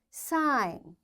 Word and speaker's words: sign: G is silent when it comes before N. Its examples are design. Now, after G, N is there, so we don't pronounce this G. This is silent. Foreign, sign, align, resign, assign, rain, clone, and campaign.